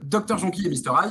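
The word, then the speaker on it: Dr Jonquille et Mr Ail: J'ai bien prononcé? Oui, cofondateur, puisqu'on est 4. Alors, autant pour moi, cofondateur de Dr Jonky et Mr Hyde.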